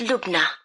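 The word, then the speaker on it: Lubna: can I have your first name yes it's look now look now can you spell that for me L u b na and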